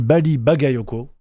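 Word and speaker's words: Bally Bagayoko: Le maire de Saint-Denis, Bali Bagayoko, attention à la prononciation, sinon vous avez des problèmes, c'est pour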